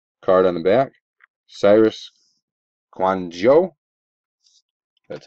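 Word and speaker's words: Kouandjio: number to 99 card on the back Cyrus quano that's how you pronounce it first hit pack number five nasty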